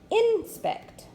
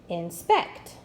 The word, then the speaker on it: inspect: to the next syllable let me read it with the accent on the second syllable inspect inspect that sounds better I need to inspect